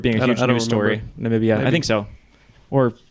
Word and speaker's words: Namibia: Jeff is definitely closest, but this is a country that Donald Trump called Nambia. It's Namibia.